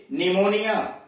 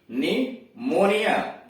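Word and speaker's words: pneumonia: का उच्चारण प है, लेकिन आगे देखिए PN आया है शुरू में, PNEU यम ONIA, निमोनिया, निमोनिया। तो अब इसमें क्या है, इस निमोनिया में देख रहे हैं कहीं भी यन का उच्चारण नहीं यहां आया है। निमोनिया यानी पी गायब हो गया है, पी का उच्चारण यहां शुरू में नहीं हुआ है।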